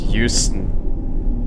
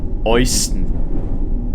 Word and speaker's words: Euston: Yeah, it is actually pronounced Houston. But when you say it in my language, which is German, EU is pronounced Oi. Euston. You say it in German. Yeah. EU is in German Oi. An O and an I.